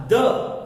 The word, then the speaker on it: the: जो THE लगाते हैं वहां उसका प्रोनाउंसिएशन होगा द। और अगर कोई वर्ड वॉवेल से स्टार्ट होता है उसके सामने जब THE लगाते हैं वहां उसका प्रोनाउंसिएशन क्या होगा? दी।